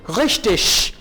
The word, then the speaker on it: richtig: Was ist, what is richtig? अब देखें यहां पे G I के बाद आ रहा है, तो जब भी G I के बाद आएगा आप उसको शीन कह के प्रोनाउंस करेंगे।